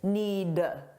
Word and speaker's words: need: Notice that I didn't pronounce the D, need. Because if I do that, it forces me to take a pause, which slows me down. So if you don't pronounce that D at the end, you'll be able to speak faster.